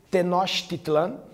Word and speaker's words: Tenochtitlán: principal cidade do Sul do império Asteca a pronúncia é tenochtitlán tenochtitlán onde hoje é a cidade do México